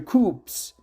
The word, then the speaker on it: coup: conflict, or where military coups are common. And let me stop here and look for the exact pronunciation for this. Military coups, not coups. I think military coups. P is silent.